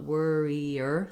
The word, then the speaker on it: worrier: also just watch out you want worrier three syllables warrior she's a real